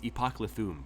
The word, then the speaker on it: Epoclithum: And in case you're wondering how to pronounce the name, it's Epoclithum, by the way, and it's based on a Nez Perce name, which is legit. Epoclithum is what you said? Epoclithum, yes.